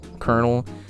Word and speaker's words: colonel: crazy Colonel Kurtz everybody why is Colonel the most hard like wise Colonel spelled like that like I don't even know it's just like it's why Cullen 'el Colonel English language is so